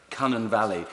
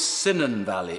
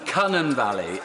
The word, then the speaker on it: Cynon Valley: I want to pay tribute to my right honourable friend, the member for Cunnan Valley. Tony Blair never managed to say it correctly. It was always Cynon Valley, according to him. Cunnan Valley.